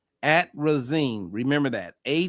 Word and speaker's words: atrazine: Um, and the other one I always I don't pronounce it, but I need to start saying it's it's at risine. Atrazine. Atrazine.